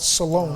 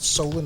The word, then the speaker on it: Solon: But it's still over Blessing in South Solon. I think I pronounced it Solon earlier. Please forgive me. I'm from Northeast Ohio. We pronounce it Solon up there.